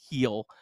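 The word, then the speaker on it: Gil: Luis uh Luis heel it's spelled g but it's pronounced heel um good news is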